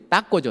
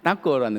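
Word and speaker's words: taco: 가장 유명한게 따고죠. 따고. 여기선 타코라고 그러는데 좀 발음을 강하게 하십니다. 한번 해 보실까요? 따고. 따고. 예. 따꼬라는 음식입니다.이 따꼬란 음식이 우리 가을에 잘 먹는 옥수수 가루를 잘게 부어서 전병을 만듭니다.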